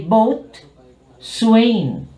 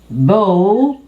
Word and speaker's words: bosun: And this one, notice, normally you will say boat, swain. But again, because this is influenced by French, this is bosun.